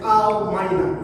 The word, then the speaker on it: Elmina: And by the way, Elmina's initial name is Elmina. It's a Portuguese word, meaning the gold mine. But this one is pronounced to be Elmina, and that has come to stay.